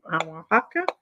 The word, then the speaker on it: Oaxaca: Oaxaca. And it's spelled OAXACA, and it's called Barra Negro pottery or black pottery.